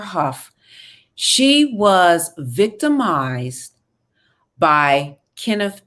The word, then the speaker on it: Hough: she said jennifer huff and i mispronounced her name her name is jennifer huff she was victimized by kenneth perry when she was 16.